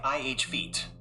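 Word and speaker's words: effete: This is the short i sound as in bit or ship. This part is pronounced like feet with the emphasis on the feet syllable. So it sounds like ih feet with the stress on the second syllable.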